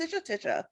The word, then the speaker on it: Tisha: That's pronounced Tisha.